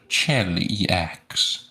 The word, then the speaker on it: Cheliax: It is pronounced Cheliax, says so on the wiki.